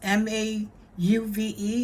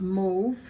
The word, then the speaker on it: mauve: our move seed beads m-a-u-v-e is pronounced move not mauve the way I said it the first time move and then we have